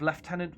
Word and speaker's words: Lieutenant: We now have Lieutenant, and that's right, I am British, and that is how you say it.